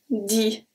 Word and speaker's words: dit: On dit que. On makes a very specific sound. Dit. Dit. So I don't say dit. So the T is silent.